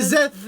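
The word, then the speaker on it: Szeth: C'est Zef.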